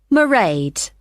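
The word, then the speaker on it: Mairead: do you spell that it's m a i r e a d marade okay got that it's not a name I'm familiar with oh it's an Irish name she comes from Dublin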